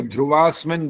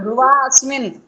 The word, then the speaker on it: ध्रुवा अस्मिन: ये ध्रुवास्मिन बोला है इन्होंने, हाँ ध्रुवा अस्मिन, अस्मिन यहाँ भी नहीं था। बोला। अस्मिन नहीं बोला, हाँ अ का उच्चारण करना चाहिए था यहाँ पर।